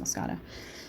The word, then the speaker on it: moschata: I think it's pronounced moschata. So these are supposedly the most, or one of the most resistant.